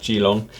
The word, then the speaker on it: Geelong: "Need to whip him for his pronunciation of Geelong." I mean uh, jeelong, very good.